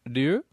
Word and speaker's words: Ryu: Instead of saying Ryu, yeah, I used to say Ryo.